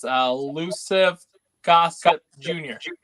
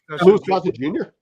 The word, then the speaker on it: Louis Gossett Jr.: But Luciv Gossip Jr. Oh, Louis Louis Gossett Jr.